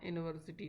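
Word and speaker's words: university: Next question है, Nita was dash यूनिवर्सिटी topper, choose the correct article, तो Nita was एन यूनिवर्सिटी topper, sorry A यूनिवर्सिटी topper, क्योंकि इसका pronunciation क्या हो रहा है?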